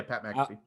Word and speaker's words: Pat McAfee: your argumentative shows to your very opinionated show, Pat McAfee, I said that right? Yeah, Pat McAfee. I always feel like I'm saying his name wrong, and I know it could kick my